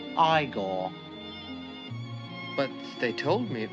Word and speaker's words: Igor: also features marty feldman as igor now it's pronounced igor but they told me it was eagle well